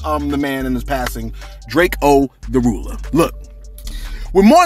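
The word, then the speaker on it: Drakeo: the Ruler, that's right, I've been pronouncing the man's name wrong all along. Cause look, check this out, man. It was no disrespect, you know what I mean? It's just that, like, when I grew up, right, I just learned how to pronounce and read words phonetically. You know what I'm saying? So when I didn't see a dash, I thought it was Draco.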